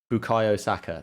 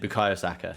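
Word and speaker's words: Bukayo Saka: i don't want to be disrespectful is it bukai osaka yeah that's it bukayosaka he's insane the fact that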